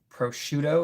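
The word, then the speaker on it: prosciutto: Prochido is how it's said.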